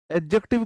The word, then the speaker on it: adjective: डी जो होता है इसमें एडजेक्टिव, डी थोड़ा सा ना बहुत कम प्रोनाउंस किया जाता है, डी को हम एम्फसाइज करके नहीं बोलते, एडजेक्टिव नहीं बोलते, एडजेक्टिव। एडजेक्टिव बहुत, मतलब बहुत हल्का प्रोनाउंसिएशन डी का इसमें रहता है।